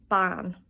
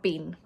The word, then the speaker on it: bean: Ban, not bean.